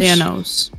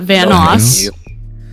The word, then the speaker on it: Thanos: How are you pronouncing that? Thanos. Thanos? Thanos? Nose? Thanos. Not Vanos.